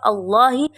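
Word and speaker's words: اللهِ: Kemudian pada kata Allahi itu adalah lam tafkim karena ada lafal Allahi yang sebelumnya adalah harakat dhammah itu maka cara membacanya adalah harus ditebalkan.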